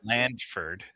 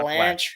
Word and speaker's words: Blandford: Blandford, not Blanche.